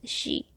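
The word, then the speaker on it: shi: The S produces a sh sound, the I produces an E sound, and when combined together, sh and E becomes she. The H in she is naturally produced when pronouncing that character.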